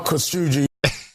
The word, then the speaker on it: Khashoggi: That's the official way. Okay, I want you to pronounce it that way from now on.